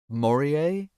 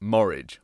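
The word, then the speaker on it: Morije: Morier? Until very recently, we'd been pronouncing it Morridge, like porridge, even though we were almost certain this wasn't a name.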